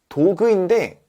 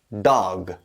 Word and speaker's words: dog: 뭐예요 도그죠 도그 근데 도그인데 도그가 아니에요 무슨 말이냐면 도그가 아니라 dog dog 이렇게 말해야 되거든요 야 도그나 너그나 뭐가